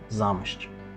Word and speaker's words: Zamość: В русском языке название города пишется как «Замосць». На польском языке оно звучит как «Замощч».